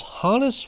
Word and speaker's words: Honus: For the longest time throughout my life, I mispronounced his first name as Honus, but I heard other people call him Hannes, and I looked it up on Baseball Reference, and the phonetic spelling says it's Hannes, so I apologize to Hannes